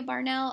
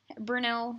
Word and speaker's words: Bernal: if it was not gaël Garcia Barnell I would not Bernal how'd he say his name burn now I would not even